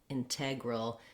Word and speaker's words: integral: of these words also in integral in those t's we drew we do use a true t so i say a little puff of air table hotel integral so i can't drop it and that's follows a